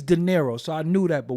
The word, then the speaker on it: D'Nairo: it and it and it reads daero so I knew that